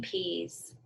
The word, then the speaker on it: peas: that's right but again the spelling has no Z or X at all so peas peas these sounds sound like a Z but they're not spelled with a Z okay here's our next